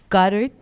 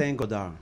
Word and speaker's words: Saint-Godard: Et là, aujourd'hui, avec nous, on a John Goddard. Je ne sais pas si je prononce bien ton nom. Saint-Godard.